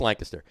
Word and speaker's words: Lancaster: It's Lancaster.